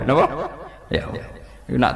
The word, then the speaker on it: Yahweh: Tuhan Yahudi tunggal itu Yahweh, nopo? Yahweh. Itu nak tengejaan Latin Y besar, A H besar, W E H besar, Yahweh.